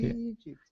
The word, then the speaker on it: Egypt: that's that's it perfect Egypt yeah he lives in Egypt she lives in Egypt we just give it more of a long e sound wow that's good to